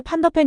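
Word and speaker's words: Van de Ven: 라고 질문하면서 손흥민에게 판더펜 이름을 말해줄 것을 요구했는데요. 뭔가 잘못됐다는 걸 깨달은 멋쩍은 미소와 함께 손흥민은 조심스럽게 미키 판더빅이라고 말했고 기자는 그는 미키 판더펜이라고 불러야 한다라고 지적했습니다.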